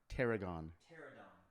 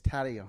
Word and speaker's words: Tadayon: Tarragon. Tarragon. Tarragon. Tarragon. No, I'm kidding. It's Tadayon.